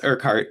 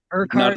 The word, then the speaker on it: Urquhart: It's Urquhart. Not Urquhart.